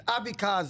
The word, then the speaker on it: Abeckaser: It's Abeckaser. Abeckaser. Yeah, but everybody calls me Danny A. Danny That's why, because nobody can pronounce it.